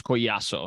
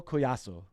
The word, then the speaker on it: Collazo: how's it going yeah my last name's koiaso so in in Spanish uh the Double L is a ya sound so that's how you say it yeah oh awesome that's